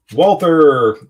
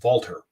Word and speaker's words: Walther: Walther, the big thing that I wanted to see, and I could not wait to get to and I'm mispronouncing, it's Walther, the Walther booth.